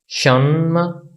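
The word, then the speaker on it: 什么: तो इसकी प्रोनाउंसिएशन होगी शन्मा शन्मा शन्मा, यानी इसका मतलब है व्हाट, क्या।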